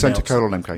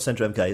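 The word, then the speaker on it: Centre:MK: name of the centre, we have to pronounce... Centre colon MK. We have to pronounce the colon. So centre, it's not centre MK, it's centre colon MK.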